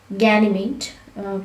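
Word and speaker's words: Ganymede: must remember one of them is name it ganymate you can pronounce it like that and this is the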